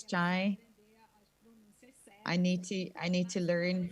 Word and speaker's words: Shai: I was saying to Shai and it's Chai.